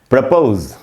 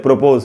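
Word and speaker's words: propose: तीसरा वर्ड है दोस्तों प्रपोज। सबसे पहले तो इसका उच्चारण क्या, तो ये सीख लेते। इसको हम लोग अक्सर बोलते हैं प्रोपोज।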